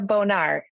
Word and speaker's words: Bonar: my name is bonard very important you spell my last name and pronounce it correctly it's Bonar it sounds like fancy French instead of very close to a dirty word that's awesome I have